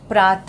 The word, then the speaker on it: प्रातः: कक्षाओं में पढ़ा होगा प्रात हक को प्रातः है तो यहां पर विस्तार लगा हुआ है और इसका उच्चारण ह कि यह करते हम लोग हल्का-हल्का उच्चारण आता है प्रातः पेशाब हक तो